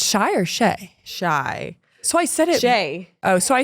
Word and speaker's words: Shai: Shai.